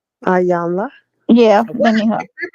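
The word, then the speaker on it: Iyanla: Ayanla.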